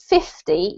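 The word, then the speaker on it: fifty: end of the word it's the emphasis between the syllables so if you're saying 50 you put the emphasis on the fifth if you're saying 15 you put the emphasis on the t and if you if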